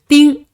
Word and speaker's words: 丁: we will learn is DING d-ing-ding d-ing-ding Tintin, there is a